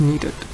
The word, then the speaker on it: needed: when you say need the pronunciation is neat when you add Ed you're adding an extra sound which is like this knee needed needed so it does not